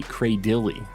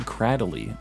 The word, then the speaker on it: Cradily: people for that grass Rock fossil Pokemon say cray Dilly I've never said cray Dilly like that before I think it sounds weird I always said cradly which is like how it's spelled cradily but